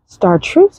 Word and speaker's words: chartreuse: Chartreuse is how you say it, color on it.